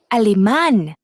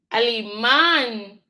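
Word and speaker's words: Alemán: Alman. Alan. I had to figure out I know this emphasis on ah so ali man that little accent there I don't know what that one is called um but I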